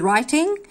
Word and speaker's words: writing: بيقول لي writing ال W هنا silent, ال W silent, فبيقول لي writing يعني